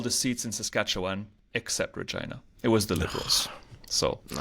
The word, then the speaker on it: Regina: seats in Saskatchewan except Regina. It was the Liberals. So, the city that rhymes with fun.